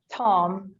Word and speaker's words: Thom: that's correct and thom is that thumb tom h is silent all right um who